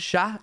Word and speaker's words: chat: So I would like unde chat is I don't sha. Do you say it like that? Is that cat in French? Sha. Do you pronounce the t?